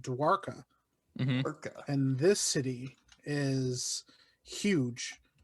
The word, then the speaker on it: Dwarka: fascinating this city called forgive me if i'm pronouncing it wrong but it's called dwarka and this city is huge it's found in